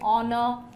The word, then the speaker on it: honor: You should not pronounce the H. It is honorable, honest, honorable, honor, right?